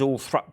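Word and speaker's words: Althorp: asked Earl Spencer Dan brother and it is all thra um is it which is kind of the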